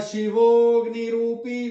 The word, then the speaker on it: शिवोग्नि: सदा शिवोग्निरूपी, देखिए सदा शिवो, शिवो को लंबा खींच के अ साइलेंट है, अ नहीं बोलना, ग्नि, शिवोग्नि रूपी मामाग्नेयाम पातु सर्वदा, मामाग्नेयाम, ग